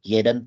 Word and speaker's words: jeden: Jadi setiap harinya, jeden Tag bacanya jeden Tag. J dibaca Y.